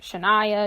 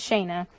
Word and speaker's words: Shana: pronounce their name because people are like Shania Chyna my name is Shana it's just crazy the